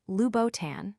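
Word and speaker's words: Louboutin: Many stumble over the B in boutin, but the accurate pronunciation is Lubboutan with a smooth flow.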